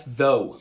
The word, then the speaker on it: though: Oh, yeah, that's though. Though.